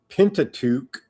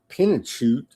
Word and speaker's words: Pentateuch: On this day in 1296, illuminated Hebrew Bible, the Rothschild, and then how do you pronounce it? Pentateuch.